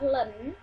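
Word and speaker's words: ln: di sini Ibu gunakan logaritma natural atau di sini dibacanya adalah Len Len 5 = Len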